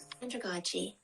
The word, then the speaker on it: androgyny: Androgyny. Androgyny. Like pedagogy.